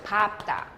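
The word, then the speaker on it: 밟다: 리을 비읍인데 리을로 한다며 예외니까 비읍으로 하겠죠. 밥다.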